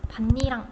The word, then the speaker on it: 밭이랑: 어, 밭에다가 니은이 하나 첨가되고 반니랑 이렇게 발음이 돼요.